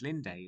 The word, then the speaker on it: Linde: Linde as she is sometimes pronounced, their clothing represents a degree of harshness